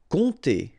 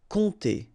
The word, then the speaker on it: compter: Compter. All right, so OM, really like a nasal here. On, and then this P is not pronounced. Compter.